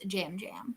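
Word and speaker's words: Yam Yam: Because he posted on Twitter that it is Jam Jam. Jam Jam. That Okay. it is either pronounced Jam Jam or you may use the yam emoji.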